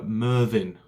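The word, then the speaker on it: Myrddin: bit of mrnomer so merlin comes from the welsh uh mervin which is spelt m y double d i n however the chap who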